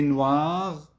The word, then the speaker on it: noir: نلفظ الإر. La robe est noire. نلفظ الإر وبالتالي le livre est noir. La robe est noire. الكتاب أسود والروب أسود. أسود الثانية أخذت بالأخير، ولكن الإر تلفظ بالمرتين بحالة التذكير وبحالة التأنيث، فنقول le livre est noir.